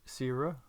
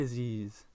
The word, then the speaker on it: Aziz: tournament Aces for sir Sierra uh oh already pronouncing it wrong it's going to be Aziz Aziz with the aces 953